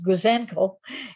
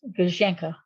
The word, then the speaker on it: Gouzenko: I would pronounce it Gouzenko, and that is incorrect. It was Gouzenko with a sound on the end.